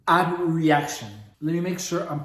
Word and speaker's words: abreaction: I just thought it was abrecation. So it's actually called abreaction.